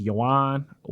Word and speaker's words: yuan: I think it's pronounced Chinese yuan, YUAN.